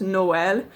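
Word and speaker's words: Noël: one sound so the French word for Christmas Noel usually you don't have two vowel sounds in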